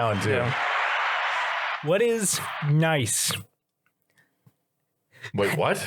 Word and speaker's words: gneiss: What is nice? Wait, what? I can spell this word, but it's pronounced nice, and it's GNEISS.